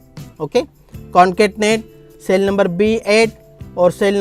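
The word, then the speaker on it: concatenate: कॉनकैटनेट। Okay, तो pronunciation होगा कॉनकैटनेट।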